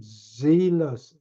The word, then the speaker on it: zealous: You are indeed zealous. Zealous는 jealous하고는 발음도 다르고 뜻도 달라요. Jealous는 투기한다, 질투한다 이런 뜻이고 zealous는 zeal에서 나온 거예요.